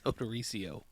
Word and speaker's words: Odorizio: How do you pronounce her last name? It's Odorizio.